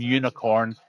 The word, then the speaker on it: UNXCRNN: And if somebody would be kind enough then to send that lad an invite, you call him Unicorn. It's spelt UNXCRNN.